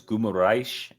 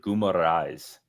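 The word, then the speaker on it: Guimarães: That's what I thought it was Guimaraes, like the sh or whatever. Yeah. But I think he's American. The announcers pronounced it Guimaraes. Okay. Guimaraes. I'm sorry. So like an S instead of a sh.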